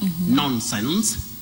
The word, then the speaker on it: nonsense: Well, the other problem is many people mispronounce the prefix non as none. We say non, nonsense, non-stop, non-starter. So we don't say none, we say non when we are pronouncing that prefix.